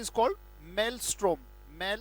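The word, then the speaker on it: maelstrom: job discuss करने जा रहे हैं इस call मेलस्ट्रोम mail a strong room torch light और इसकी स्पेलिंग आपको दिखाई दे रही है इसका उच्चारण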